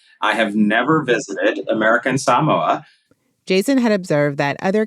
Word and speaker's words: Samoa: looks to Northern Mariana Islands Democrats in American Samoa a territory of the United States had voted